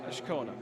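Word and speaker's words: Azcona: I've been pronouncing it wrong all season. I've got the inflection in the wrong place. Michael Ashkona.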